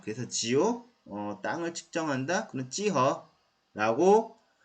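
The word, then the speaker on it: 幾何: 사실 기하 중국 발음은 찌허입니다. 찌허라는 말 자체도 geometry.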